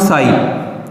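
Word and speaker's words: psi: साथ में मैं एक टर्म लिख रहा हूं साई, यहां पे पी साइलेंट होता है, इसको लिखते ऐसे हैं, इसको कहेंगे साई, ठीक है।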